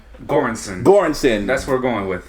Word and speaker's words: Göransson: Göransson.